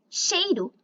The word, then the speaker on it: cheiro: O ditongo EI pode ser pronunciado como E. Beijo é pronunciado beijo. Queixo é pronunciado queixo. Cheiro é pronunciado cheiro. Mineiro é pronunciado mineiro.